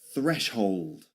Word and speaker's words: threshold: Threshold. Threshold. Threshold. Again, that th sound at the beginning. [clears throat and cough] The same you'll find in canthion. Canthion in Spain, in some areas of Spain.